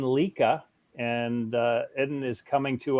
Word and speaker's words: Lica: But the right pronunciation for my name, it's Eden Lica.